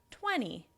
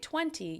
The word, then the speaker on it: twenty: at the end, right, twenty, you're not pronouncing it as clearly." And that's because I'm American and we do what we call a flap "t" between those two syllables.